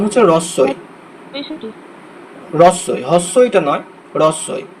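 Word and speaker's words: হ্রস্ব ই: এই যে হয়ের নিচে যখন র ফলা থাকে তখন হয়ের উচ্চারণটা সুপ্ত থাকে, তখন রয়ের উচ্চারণ হবে, রস্যই, হ্রদ, এরকম উচ্চারণ হবে।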